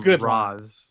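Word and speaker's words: Ra's: So, I do like, the comic does suggest that Raish is the correct way to pronounce his name because Raphael, I think, has a line, who's Racial Ghoul?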